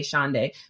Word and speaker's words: Shaundai: I always say it pronounce it like a day of the week Saturday Sunday shaay people just remember it